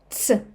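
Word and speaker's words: ц: she she she And one more letter, letter tse tse This letter does not exist in English, but you can try to say t and s tse very fast.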